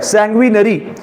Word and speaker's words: sanguinary: सैंग्विनरी spelling लिख लो, SANGUINARY, सैंग्विनरी।